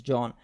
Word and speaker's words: Jean: It spells like Jean, but she said in the video it's John.